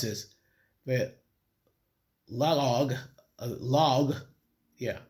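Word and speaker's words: Laoag: Not sure how I'm going to pronounce this but log log.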